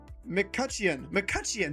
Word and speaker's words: McCutcheon: McCutcheon.